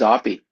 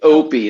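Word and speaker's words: Oppy: Who's Oppie? It was Oppenheimer? It's pronounced Opie.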